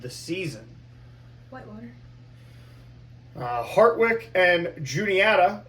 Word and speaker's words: Juniata: Hartwick and Juniata, or as you tried to pronounce it, Uniata, because we threw some Spanish in there, which was cool.